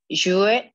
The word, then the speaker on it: jouent: En effet, parce que ENT à la fin, on ne prononce jamais.